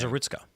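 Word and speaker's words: Zarutska: I don't know how to pronounce her last name. Zeritzka. Zerutska and Charlie Kirk.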